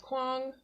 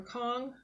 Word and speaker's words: Kuang: Now that's Babel by R.F. Kuang or Kong. I've heard it both pronunciations.